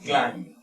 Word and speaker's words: climbed: puedo explicar un poco, la B después de la M no se pronuncia.